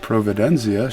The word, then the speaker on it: Providenza: it was proven denzia spelled providenza but they would pronounce it providenzia she Grandma flow they